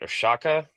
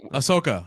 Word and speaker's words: Ahsoka: And I was watching, okay, I'm not even sure I'm pronouncing this right. Oshaka, what was this? Ahsoka.